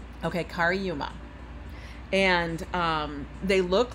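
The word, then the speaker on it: Cariuma: But then when I got to the site, now these are called Kariuma. It's spelled C-A-R-I-U-M-A. I'm not going to stop my life. Okay, that's what they're called. Okay, Kariuma.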